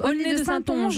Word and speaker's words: Aulnay-de-Saintonge: Alors, comment on prononce ? Aulnay de Saintonge, en Charente-Maritime.